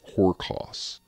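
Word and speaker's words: ὅρκος: The root word that comes from Greek is not spelled, but pronounced horkos.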